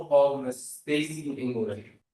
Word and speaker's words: English: English like it sounds?